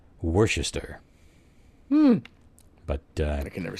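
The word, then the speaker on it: Worcester: for County um sauce so apparently the proper anunciation is in fact Worchester but uh I can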